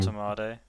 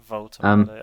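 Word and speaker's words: Woltemade: Voltemade. Yeah. It's a V, not a W. Voltemade.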